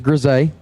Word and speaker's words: Grisey: Thank you to Marco Pervalaris, as he was the first to tell me how to pronounce that name. It is Grisey.